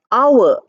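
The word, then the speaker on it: hour: h o u r when you write you pronounce it as our o Ur we don't pronounce it as how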